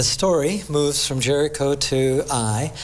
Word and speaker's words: Ai: The story moves from Jericho to Ai. I guess maybe I learned it as Ai, but I guess the Hebrew pronunciation.